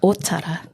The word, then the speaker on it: Ōtara: You tell me, Ōtara. Ōtara. Hey. There we go. Hey. So remembering that Ōtara has on the O, there is a macron or tohu tō.